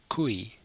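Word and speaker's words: koei: other words as in the word for cow which is kui kui and the plural cows is kuya kuya so this word just gets an e at an H sound at the end as well so same as before we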